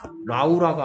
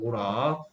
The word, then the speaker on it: Laura: 라우라가 아니고요 로라 오케이 AU는 둘이 붙어 있으면 무슨 소리 낸다? 오 소리 낸다 했습니다 오 소리 로라 그러면